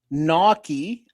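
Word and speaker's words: gnocchi: Naki, pronounced Naki, is a a varied uh family of Italian pasta, like dumplings made of small rolls of dough.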